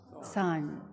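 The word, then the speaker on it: Seon: Zen or in Chinese Chen in Korean is pronounced as son so Sun so we all call it meditation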